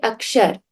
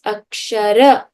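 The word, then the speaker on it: अक्षर: And they will say akshar. But actually it is akshara because there is a difference in Hindi and Sanskrit with the integrity of what we call the halant.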